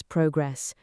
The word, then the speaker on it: progress: Learning a language takes time, but every day brings progress. Pronunciation: progress. The stress is on the first syllable.